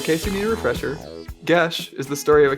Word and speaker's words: Geis: It's pronounced Gesh. Yeah. Oh god, yeah. I was just about to jump in with that as well. So in case you need a refresher, Gesh is the story of a kingdom in need